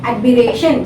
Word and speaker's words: admiration: For example, decoration, admiration, station, nation.